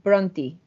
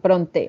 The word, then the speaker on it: Brontë: es un misterio pero no en teoría es bronti o sea como si fuera una y al